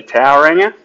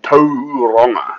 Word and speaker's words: Tauranga: up in Auckland but right now I'm in to ronga you can say towering but uh sounds better people argue because it's